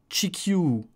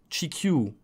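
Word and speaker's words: 地球: un prolongement du eu donc ça va faire chikyu chikyu que j'écrirais ch i khas y ait eu avec une barre sur le hub chikyu chikyu tu prononces deux fois lui à la fin parce que c'est le prolongement et inversément ici bon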